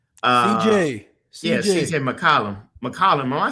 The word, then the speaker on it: McCollum: Oh God, why I keep having a hard time pronouncing his name? CJ. Yeah, CJ McCollum. McCollum.